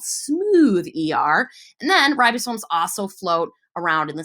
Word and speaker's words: ribosome: right those are called ribosomes a lot of people say Oh ribosomes but they're not they're called ribosome so I'm gonna write that